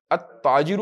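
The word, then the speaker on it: التاجر: शमसी भी पढ़ ले अ ताजिर अब इन सब के अंदर लाम प्रोनाउंस नहीं करना अजरू बिजनेसमैन अ कपड़ा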